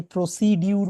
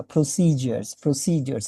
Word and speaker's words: procedures: And what about the সো কেন শুনবেন, এটা প্রসিজার বলছে, আমরা যে প্রসিডিউর বলি ওই রকম কিন্তু না, প্রসিজার্স। আই হোপ যে আপনারা খেয়াল করেছেন। সো লিখে কিন্তু প্রসিডিউরস, but they R pronouncing like procedures.